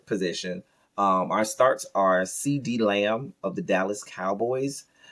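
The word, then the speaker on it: CeeDee: um our starts are cd lamb of the dallas cowboys um and that cd is spelled c-e-e-d-e-e um cd lamb of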